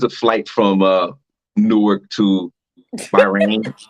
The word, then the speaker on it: Bahrain: How you spell it? BAHRAIN.